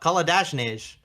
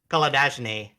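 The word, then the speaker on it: Kolodjashnij: And on the flip side for Geelong, I've got Koladajnij, who I thought was very good. That. A lot of Koladajny. I know. I like to pronounce the second J. It's wrong.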